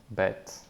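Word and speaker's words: ב: a separate video so the sound of B with a Dage the hard pronunciation is B like Benjamin or boy or black right B bet an example here would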